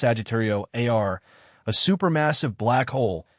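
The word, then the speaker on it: Sagittarius A*: The focal point of this bustling center is an object known as Sagittario Asterisco, pronounced Sagittario AR, a super massive black hole that weighs approximately 4 million times the mass of our sun.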